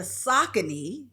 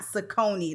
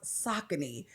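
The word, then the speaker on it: Saucony: For me, I have on the Sakccin. And yes, that's Sakccin, not Sakonei.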